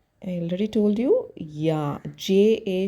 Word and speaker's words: ja: Yeah, J-A should be pronounced like Y-A, but you have to be very careful. You have to put only J-A.